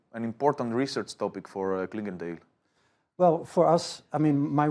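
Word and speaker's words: Clingendael: And now we're back to our studio and our patiently waiting guest here, Frans-Paul from the Klingendale Institute. Am I pronouncing it correctly?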